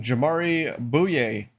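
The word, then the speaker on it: Jamaree Bouyea: The Miami Heat signing Jamari Bouye. Probably not saying that correctly, but yeah, you did. You got it. At least according to the NBA's pronunciation.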